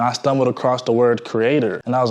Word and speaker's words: Kreader: This is pronounced Creator. A lot of y'all pronounce it as Creator. It is not Creator, right?